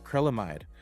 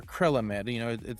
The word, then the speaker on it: acrylamide: For this specific client, it was unfortunate because they did have a chemical in there that's called acrylamide or acrylamide. It's pronounced differently by depending on who you speak to.